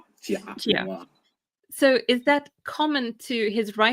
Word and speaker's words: Jia Pingwa: Is it Jia Pingwa, or how do you pronounce his name? Jia Pingwa.